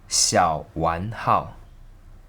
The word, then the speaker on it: Xiao Wan Hao: The pronunciation of the brand in Mandarin is Xiao Wan Hao.